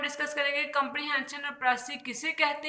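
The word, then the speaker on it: précis: The word प्रेसी is taken from the French word प्रेसी। ये एक फ्रांसीसी ज़बान का लफ्ज़ है। इट is pronounced in English प्रेसी।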